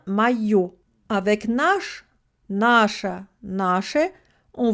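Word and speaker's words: моё: Moj plus O du neutre devient mayo.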